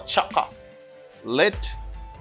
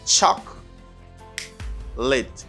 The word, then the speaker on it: chocolate: chocolate chocolate choc saba don't say don't pronounce this don't say choco or chaka lit or late no it's not late you say chuck chuck lit chocolate chocolate good and